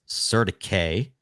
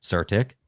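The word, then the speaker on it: CertiK: now we're using surtic actually the way you've pronounced their name technically is Serta K but surtic to audit all of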